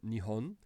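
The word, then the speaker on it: 日本: So, for example, these two characters together make the word Japan, and we pronounce that Nihon. And then here we see in hiragana, Nihon, as a way to pronounce that.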